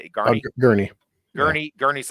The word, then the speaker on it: Gurney: He's just like, was it Garney? How do you say it? Garney? Gurney.